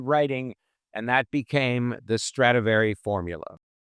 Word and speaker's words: Stradivari: And that became the Stratavari formula. The book uses the term stratavari. That's the actual Italian pronunciation, whereas Latin pronunciation, which most people know about, is called stratavarius.